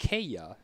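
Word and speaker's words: Kaaya: Kaya.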